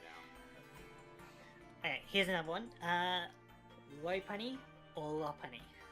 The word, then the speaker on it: Lopunny: I go with Lopunny because it's like earlobe, you know, it's all about the ears. Okay. So like low and it's bunny.